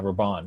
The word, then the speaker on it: Rabban: I believe that's the name how you pronounce it. Yeah, Raban. Yeah, Rabban.